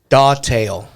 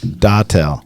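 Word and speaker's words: datil: Dawtail. What? D-A-T... Well, we know you can't spell it. Yeah, Right? this is D-A-T-I-L. Dawtail.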